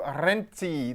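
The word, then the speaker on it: Renzi: Prime Minister now Mateo renti The Zed is just a single Zed but you say it like that double Zed in pizza and he's Italy's youngest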